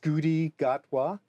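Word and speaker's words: Ncuti Gatwa: It's I think it's pronounced Scooty Gatwa.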